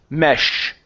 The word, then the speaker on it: mesh: Okay, now give me an SH sound. It's mesh. Mesh.